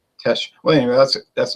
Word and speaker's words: Teche: I noticed you were saying tech, but it's actually Tech. I wasn't sure. You know, it doesn't say how to pronounce that. That could be trendy. You know. Well, anytime you see the CH with an E after it, it's like a SH. Yeah. Tesh.